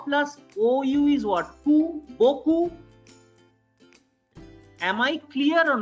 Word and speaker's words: beaucoup: In the word Boku, BEAUCOUP, there are two combinations. One is EAU, which I have already told you, EAU is O. And the second combination, which I have not yet discussed with you, which is OU. And what is the pronunciation of OU? Oo.